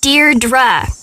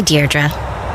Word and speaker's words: Deirdre: Deirdre. I know it's got that tricky second syllable, but I figured it out by age 2. Don't give up. You'll get there. Sorry. Hi, Deirdre.